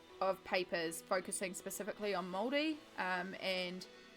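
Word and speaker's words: Māori: little Pia girls that did not know how to pronounce and said Mari Mari for years and then to learn how to say moldy correctly I had to remind myself moldy D like bread which I felt awful about but that was the only way I could train myself to work on those vowels and the correct pronunciation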